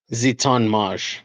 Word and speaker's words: Ziton Moj: Um I will take the first one is Ziton Mojo is what I'm going to call him because I have no idea how to pronounce that name. What is his name? JJ Zeton Maj.